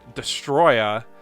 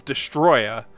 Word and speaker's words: Destoroyah: even funnier because destoroyah whose name looks like you have to pronounce it with an incredibly thick Japanese accent just cuz there's a bunch of extra a's in there because his name's destoroyah but it's spelled like DISA - Roya he's just this giant